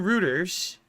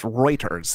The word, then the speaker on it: Reuters: it's now I'm wrong I have that Canadian pronunciation but it's Reuters is it not it correct it is Reuters is the correct but this ising I